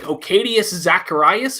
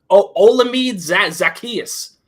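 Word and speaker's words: Olamide Zaccheaus: I mispronounce his name all the time. It's like Ocadius Zacharias or something. Oh, okay. He's our top receiver. He's like a solid number 3. Olamide Zacchaeus.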